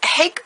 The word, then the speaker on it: hake: these are H brushes it's like pronouncing rake but use a h in place of the r rake H so hake brushes are Japanese brushes